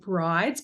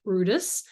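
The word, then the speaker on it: Bryde's: significance of Brutus whales or which is red Brides but actually pronounced Brutus feeding in these areas in fact it was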